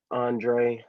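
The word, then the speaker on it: Andrej: Andre. The Andre has a J at the end, is silent.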